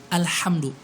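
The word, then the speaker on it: الحمد: pijakan alhamdulillah tapi alhamdulillah pastikan pakai ha Tengah tenggorokan ya bedakan ya tolong bedain kalau pakai hal ini Hi Ho Bah itu pakai Tengah nomor kan al-hamdu jadi kalau kita pakai Hahaha iya teman-teman bagian bawah hahihu Bah kedengarannya berbeda toh berbeda Jadi jangan sampai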